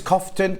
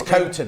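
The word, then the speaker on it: Coughton: that is it now I never know if it's cofton Kon Corton how you say it I don't know how you say it oh it's coton apparently C right coton yes I was nicked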